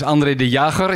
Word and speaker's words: Andre De Jager: My name is Andre De Jager, if you want to pronounce it correctly in my language.